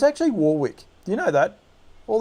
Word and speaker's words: Warwick: is at warrick farm this weekend it's actually warwick do you know that all this you say warwick it's spelt warwick w-a-w-r w-i-c-k don't murder the english